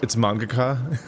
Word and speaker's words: mangaka: It's mangaka.